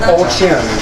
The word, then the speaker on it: Olchin: I had to get a pronunciation of his name before. They said Olchin, so I got it.